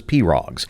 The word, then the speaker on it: pirogue: For Ernie Seavoy, it's a priceless collection of wooden pose, which he pronouncs as Perogs.